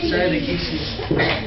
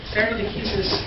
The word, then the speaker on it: stare decisis: Stare decisis, or I'm going to pronounce it like the lawyers pronounce it. Please don't follow my example with Latin class, but in the law, please follow my example.